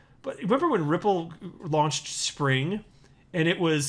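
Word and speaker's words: Xpring: that a word and people are saying like x pring and it was supposed to be pronounced spring like this is not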